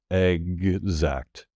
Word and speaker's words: exact: Be careful that you don't drop consonants or any of the sounds that do clearly pronounce that G and the Z. Exact.